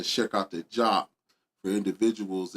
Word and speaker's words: Diop: You know, so when I'm saying check out the job for individuals, it is spelled DIOP, but in French, DI is job.